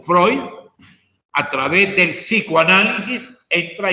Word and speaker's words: Freud: pero segismundo freud o fue un escrito fred pero pronunciado como freud a través del psicoanálisis